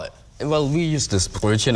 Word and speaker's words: Brötchen: Well, we use this Brötchen. It's like the standard language, but... Brötchen.